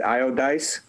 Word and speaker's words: Iodice: received from debbie gosh debbie how do you pronounce that is it io dice yes all right iodice